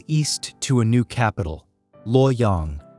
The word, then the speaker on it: Luoyang: The royal house flees east to a new capital, Luoyang, pronounced Lu Yang.